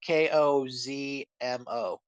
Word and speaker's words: Kozmo: And uh, so in Yu-Gi-Oh, there's an archetype called Cosmo, spelled with a K first, and it's like Kozmo.